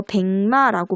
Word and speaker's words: 백마: 자, 같은 맥락에서 털이 하얀 말 있죠? 이거 백마라고 발음해요. 뒤에 비음인 미음이 오니까 앞에 기역이 파열음 기역이 이응으로 비음화가 되죠. 같은 조 밑이 내의 비음으로 비음화가 됩니다.